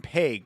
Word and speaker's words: Pague: Dustin PG. That's how you pronounce it.